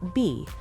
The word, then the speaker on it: 非: The Hanja character phi is pronounced B, a sound that closely resembles the pronunciation of the letter V in Korean.